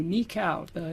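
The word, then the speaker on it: nikau: Uh, this next one I'm going to do for you is called Nika Waltz, and that's spelled N I K AU. Nikcow.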